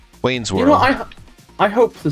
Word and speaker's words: Wayne's World: Did you just say Wales World? No, Wayne's World. No, but like the first time you mispronounced it.